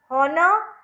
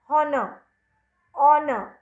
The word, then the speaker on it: honor: But when I pronounce honor, I use the vowel sounds O. And R, again, sounds. H is silent.